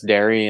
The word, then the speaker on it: Dairy: I was going to pronounce it like that, and I was like, yeah, there's no ear at the end, so I was like, okay, so it's just dairy.